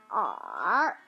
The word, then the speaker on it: 耳: The pronunciation for ear is r, r.